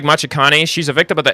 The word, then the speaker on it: Machikane: It's pronounced like Machikane.